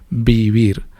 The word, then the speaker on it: vivir: Pero se pronuncian, la B y la V se pronuncian igual, es bilabial, beber, vivir.